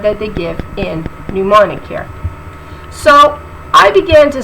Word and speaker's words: mnemonic: so mnemonic it says the first M is not pronounced in this work so it be new morning right not middle morning